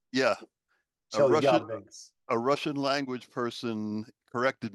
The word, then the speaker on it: Chelyabinsk: Yes, it's Chelyabinsk. The emphasis is on the second syllable. Chelyabinsk? Yeah. Chelyabinsk.